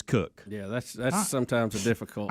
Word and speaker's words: Koch: Christina Cook and Jessica Meir. Even though it's spelled Koch or Coke, it is Cook.